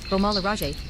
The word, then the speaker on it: Beaumont-le-Roger: Beaumont-le-Roger, French pronunciation, Beaumont-le-Roger, is a commune in the department of Eure in Normandy region in northern France.